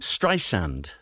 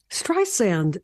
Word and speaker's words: Streisand: life hello Barbara strand tell me how you pronounce my name strand strand that's right so nice so nice to hear